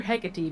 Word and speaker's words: Hecate: Damien, is it Hecate or Hecate? Because I've heard both pronunciations.